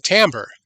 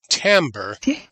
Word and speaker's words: timbre: So, same pattern, a different tambber. And and tambber, I love that word tambber. It looks like it should be pronounced timber or timbre, but it's just French for sound.